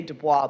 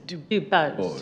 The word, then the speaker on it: DuBose: I say Dubois, but it's Dubose.